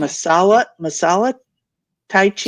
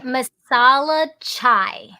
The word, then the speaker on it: masala chai: And then I found out about and I'm afraid I'm not the best in pronunciation. So That's is it okay. masala Tai Chi? Chai. Tai No, the tea. masala chai.